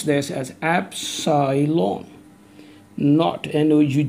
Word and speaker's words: epsilon naught: comes the medium this is Absolem on i pronounce this as epsilon naught and ough d not usually four zero epsilon